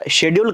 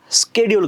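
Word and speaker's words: schedule: य एल तर मग याचा उच्चार शेड्यूल करायचा का स्केडल करायचा असा प्रश्न आपल्या प्रणवचा बरोबर आहे बघा दोनही उच्चार बरोबर कसं तर ज्यावेळी याला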